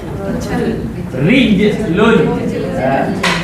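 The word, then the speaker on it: رِجْلٌ: Nah, kaki bahasa Arabnya rijlun. Ra kasra, jim sukun, lam dhammatain. Rijlun.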